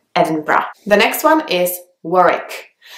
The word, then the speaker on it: Edinburgh: at the end but in English you can't hear the D you can't hear the H it's just evan breath the next one is